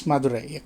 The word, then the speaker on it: Madurai: Am I pronouncing that correctly? Yes, Madurai, correct.